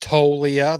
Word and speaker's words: Toglia: Yes, pronounced Toglia. The G is silent.